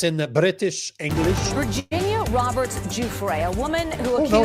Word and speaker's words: Giuffre: Virginia Giuffre, a woman who accused No, it's not. Jeffrey Not Epstein that and one. Prince. Hold on. I got Giuffre, Stu. though. That's how you pronounce Giuffre.